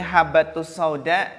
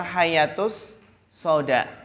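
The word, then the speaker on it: حبة السوداء: Seperti habatus sauda dibaca hayatus sauda.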